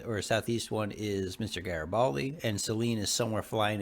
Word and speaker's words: Garibaldi: Garibaldi's awesome. Yes. It's Garibaldi, like garage. Not Garibaldi, like Jerry. No, it's Garibaldi like the chocolate.